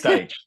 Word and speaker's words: Deitsch: And Rik, hopefully I'm pronouncing your name properly, Deitsch. It's Deitsch.